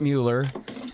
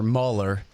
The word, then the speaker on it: Mueller: importantly is that Robert Mueller gave a public statement or Muller his name is spelled just like the old Mueller Airport here in Austin so that's his fault not mine Robert Muller gave his gave